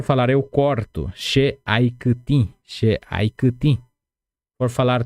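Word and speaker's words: kytĩ: Kutim. Essa palavra kutim é mais difícil de pronunciar. Lembrem-se sempre de falar congela a língua.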